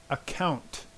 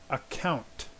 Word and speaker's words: account: And make sure you get the T sound. Account. Account.